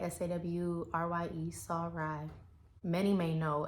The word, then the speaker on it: Sarai: going to be talking about Sarai and that's pronounced sirai s-a-w-r-y-e saw Rye many may know as Sarah and